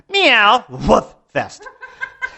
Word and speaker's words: Meow Woof Fest: w f wolf Festival actually let me say it right here's how we say it here in Virginia meow woof Fest and the idea behind